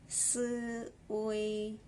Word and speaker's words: 岁: so sweet fourth tone comes above I let's pronounce this word again soy soy soy soy is age now that you